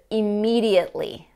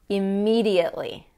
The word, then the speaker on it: immediately: the second word is immediately immediately that t is not pronounced at all so immediately and this